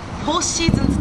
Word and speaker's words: 四季: コンビ名は四季と書いてフォーシーズンズと申します。